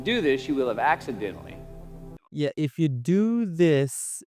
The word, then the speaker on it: accidentally: Okay, the syllable stress is being stressed out here. So accidentally, not accidentally. Okay, so it's accidentally, Almost innocently.